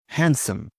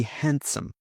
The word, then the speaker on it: handsome: Handsome. A man might be handsome. Silent D. Handsome.